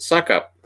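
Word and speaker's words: Succop: in a game and his last name was s-u-c-c-o-p it's pronounced suck-up they're like and suck-ups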